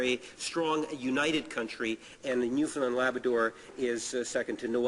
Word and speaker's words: Newfoundland: Um, I'm going to give you a little lesson on how to pronounce Newfoundland. Newfoundland. Understand? Understand? Newfoundland.